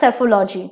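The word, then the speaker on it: psephology: in boating alright and it's spelled with a P but P is silent so it is pronounced as cephalo G okay so the answer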